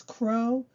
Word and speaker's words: crow: as Miss Anna said it's Crow with a long o and not like cow which is a short o so it's not the same sound at all so let's try